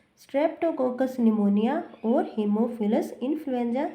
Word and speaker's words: pneumonia: निमोनिया में P silent होता है और हम इसे निमोनिया ही प्रोनाउंस करते हैं।